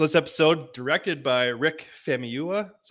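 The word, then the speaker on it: Famuyiwa: beginning um so this episode directed by Rick famiyua is how you pronounce his name uh Mandalorian veteran veteran um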